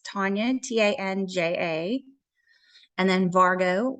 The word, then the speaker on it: Tanja: so oh yeah so my name is spelled the Estonian way which is my mother's background so it's Tanya t-a-n-j-a and then Vargo